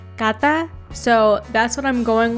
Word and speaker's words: Kantha: and she told me that it was actually pronounced Kantha.